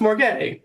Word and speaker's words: MORGAI: I love more gay because it's pronounced more gay, and that's really the whole aesthetic of what we're going for, or what I'm going for anyways.